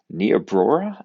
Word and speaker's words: Niobrara: I am currently in Niobrara, I think is how you say it, Nebraska, with a group of pastors and with Compassion International.